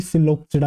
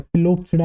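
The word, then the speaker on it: Psilopsida: बेटा पी इसके अंदर साइलेंट है, पिलोप्सिडा नहीं, दैट इज सिलोप्सिडा। क्या नाम है बेटा, पहली क्लास का नाम है बेटा आपकी सिलोप्सिडा। सिलोप्सिडा पी जो है साइलेंट है।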